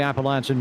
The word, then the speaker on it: Appalachian: the beginning of the Appalachian Mountains. And it is a long A for those who are uneducated, Justin Prince, so long